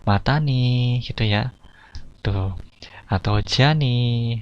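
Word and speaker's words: またね: Jadi pengucapannya mata nih gitu ya.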